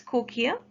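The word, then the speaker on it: cochlea: and to the inner ear by cochia we pronounce it as cochia the spelling is written on the screen c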